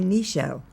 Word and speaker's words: Nichelle: like Michelle why don't you just name me nishelle and laughed and she said I like nishelle